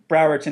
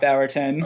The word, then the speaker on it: Browerton: So the next book in the Browerton series, Browerton, not Bowerton.